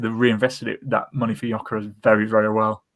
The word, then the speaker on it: Gyökeres: I think what a signing that is, like kind of you thought the kind of losing Gyökeres, is that who it was?